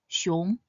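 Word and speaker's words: 熊: It is pronounced as xiong. Xiong consists of the initial xi and the final yong. Xi, yong, xiong. It is pronounced in the 2nd tone, xiong, xiong.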